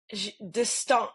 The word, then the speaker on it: d'Estaing: I will say that the three of you sort of kind of mispronounced the last name. Oh. What is it? D'Estaing. It would be D'Estaing.